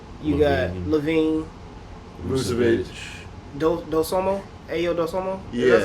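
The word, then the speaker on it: Ayo Dosunmu: You got Kobe, you got Levine, Vucevic, Dosomo, Ayo Dosomo.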